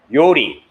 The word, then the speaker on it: 요리: So yours is the Y sound, mine is the R sound.